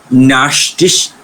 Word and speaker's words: nachts: You will be better off when you pronounce it as kha. Okay, except in oh. ish, dish. Always pronounce it as kha sound.